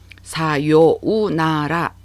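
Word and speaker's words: さようなら: 사요우나라 오음절이지만 요를 길게 발음하는 장음화 연사가 여기에 나타나죠. 사요나라가 되는 거고, 근데 실제로 이 사요나라를 노래로 할 때는 우가 확실히 들리는 경우가 많아요.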